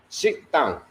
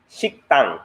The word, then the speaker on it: 식당: Shikdang. 식당.